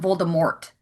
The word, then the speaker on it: Voldemort: I had that the first time I watched the film and I went why are they calling him Voldemort? There's no You don't say the T.